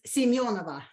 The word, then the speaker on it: Semyonova: Semyonova? Close. It's Semyonova.